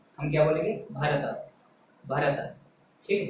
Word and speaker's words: भरत: भरत में कैसे पढ़ेंगे अपन, भरत, भरत, भरत, ठीक है। ता के बाद थोड़ा आ का उच्चारण निकालना पड़ता है, ठीक है। ता पे अपन को जो है जो जीभ को तालू से हटाना है, तालू पे रोक